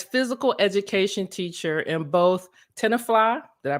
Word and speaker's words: Tenafly: Nyack and as physical education teacher in both Tenafly did I pronounce that right that's right and Rutherford New